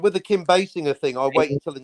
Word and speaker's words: Basinger: like with the kim basinger thing i'll wait until an interview and she said look i'm it's me it's my name it's basinger it's not messenger basinger or bad singer you know what she